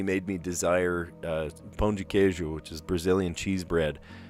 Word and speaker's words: queijo: D-E, and in Portuguese, D-E makes a J sound at the end of a word. And then queijo is Q-U-E-I-J-O, queijo.